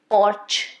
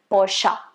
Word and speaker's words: Porsche: on the road it's not supposed to be porch or porsche no porsche is something that i've heard a lot of times but it's not right it's supposed to be porsha that's the best way of pronouncing it the